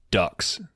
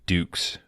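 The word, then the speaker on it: Dux: I think he's he calls him Frank uh ducks and it's Frank Dukes the character from Bloodsport uh that's the one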